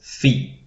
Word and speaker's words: phi: of the greek alphabet next in our list is fee fee fee which will be rendered by us with a p and h and an example is